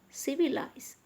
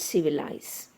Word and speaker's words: civilize: Look at civilize. Civilize. Civilize. So automatically the third syllable from the end is C. So that's why the stress is on C.